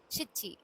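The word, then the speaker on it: しち: நானா நானா இன்னொரு வேர்ட் ஷீச்சி சிச்சி ஓகே சிச்சி நானானாலும் செவன் தான் சிச்சினாலும் செவன் தான்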